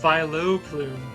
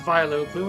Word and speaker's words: Vileplume: And I was like, it's not pronounced Vileplume, it's just Vileplume. And they're like, then why is it pronounced Vileplume in Pokemon Coliseum? There's no O in there. Quit pronouncing an O.